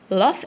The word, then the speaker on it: laugh: laugh at jokes، هنا الجي اتش مع بعض كده بنطقهم اف، بقول laugh at jokes.